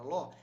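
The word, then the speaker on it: לא: A palavra não, em hebraico, é ló. Você pronuncia como ló.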